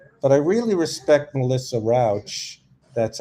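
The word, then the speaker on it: Rauch: But I really respect Melissa Rouch.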